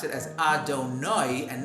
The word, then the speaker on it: Adonai: An Ashkenazi Jew pronounces that with oi, as in oi, oi, oi, whereas a Sephardi Jew pronounces it as I.